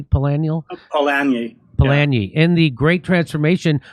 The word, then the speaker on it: Polanyi: You say Karl Polanyi am I pronouncing that correctly? Polanyi? Polanyi.